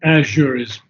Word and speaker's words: azure: can hear and bear so actually it's azure's PR preferred pronunciation Azure not AZ so then he says